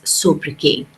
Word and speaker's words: sobriquet: All right, so the correct pronunciation, the appropriate pronunciation of this word is sobriquet. Okay, we do not pronounce the T.